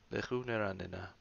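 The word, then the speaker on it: לְכוּ נְרַנְּנָה: So this schwa here down here under the nun, it has a dagesh, and then it also has a schwa. The dagesh gives it emphasis, so it's ran, ran, with the schwa.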